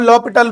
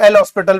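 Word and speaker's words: L'Hôpital: यहां पर H और S आपका साइलेंट की तरह है, लॉपिटल, कुछ लोग एल हॉस्पिटल भी बोल देते हैं, कोई दिक्कत नहीं।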